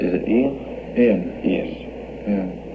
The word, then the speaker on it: Iain: Iain. Yes. Yeah. The spelling is a little different than Iain usually. It is, yes. It's the Scottish way.